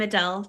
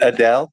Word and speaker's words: Adele: It's Adele. Am I saying that right? Adele, yep. So Adele was saying, like, I'm interpreting all this stuff into it.